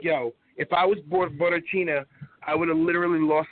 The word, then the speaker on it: Borrachinha: I can't pronounce his name, Porcatino or whatever. Borrachinha. Borrachinha.